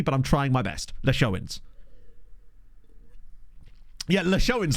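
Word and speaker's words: Leixões: The L has the normal pronunciation. The pronunciation of an A, like in paper. So, le. Pe. Le. Sh. Leish. O's. On. Plus the word... Hang on. Pronunciation of the word on plus the word in. So, leishoin. Leishonins. I'm not sure this is going to help me, really. Phonetically writing it out like that is... I'm just going to have to listen to someone say it, basically.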